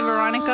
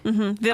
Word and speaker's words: Veranika: So I'm like, just say Veronika. It's so much better. I like my actual name, Veranika. Veranika. I like the way it sounds. Yeah, Yes, me too. Not that many people can pronounce it.